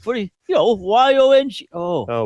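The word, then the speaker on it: Yonge: You spell Yanj. It's Yon.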